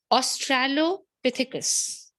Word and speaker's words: Australopithecus: Because if you pronounce it correct, your spelling would be correct. Australopithecus. Tell me the third one. Australopithecus.